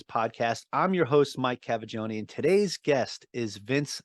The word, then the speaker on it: Cavaggioni: A lot of people mix up mine as well with Cavaggioni. They're like, oh, you're trying to figure out how to say it. I'm like, it's said exactly how it's spelled.